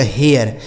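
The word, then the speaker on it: hare: यानी ए के बाद अगर आर इ लिखा होता है तो उसे हम एय पढ़ते हैं। क्या पढ़ते हैं? ए य ऐसे पढ़ा जाएगा। तो यानी इसका उच्चारण होगा एच से ह। इस ए का उच्चारण ए य आर इ से र। इसे पढ़ा जाएगा हेयर।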